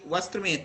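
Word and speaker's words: वस्त्रम्: अब देखिए यहाँ पे वस्त्र में तापे क्या है? बिंदी है ना, अंक की मात्रा है, तो क्या होगा? वस्त्र, और माँ में उच्चारण होगा तो वस्त्रम, वस्त्रम सीब्यत, वस्त्रम सीब्यत।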